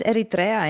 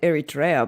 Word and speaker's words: Eritrea: was to go live foreign how do you pronounce Eritrea in English because I just went Eritrea but maybe it's this might might be the